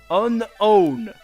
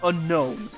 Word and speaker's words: Unown: been mispronouncing this Pokemon's name apparently the official pronunciation of its name is Unown that nobody has ever legitimately pronounced this thing's name like that and even the anime pronounced it as unknown it is easily one of my least favorite